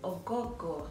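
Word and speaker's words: Oghogho: g h o but my mom claims that the g is silent like we don't pronounce the g you just literally are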